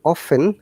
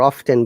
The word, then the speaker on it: often: do ask me we off often or often both sounds are correct okay use the third